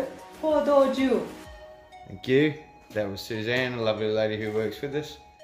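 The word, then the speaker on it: 포도주: I can't pronounce it, but this is the pronunciation. How do you say it? Pordoju.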